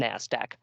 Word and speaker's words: NASDAQ: systems although in conversation most people just go by the phonetic pronunciation NASDAQ much shorter in the last quarter